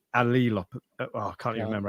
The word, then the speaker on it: allelopathy: Turns out it's pronounced allelopathy.